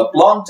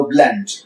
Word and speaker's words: plant: ده نبات تيبيكال بلانت او نبات بالمناسبه بلانت او بلانت. بلانت الاثنين نطقين صح، بس بلانت بريتش، بلانت اللي هو امريكان.